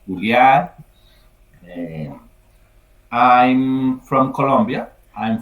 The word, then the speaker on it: Julian: In English, usually in English, it pronounced Julian, no? Uh-huh. In Yes, Spanish, yes. Uh, okay, in yeah. Spanish it's Julian.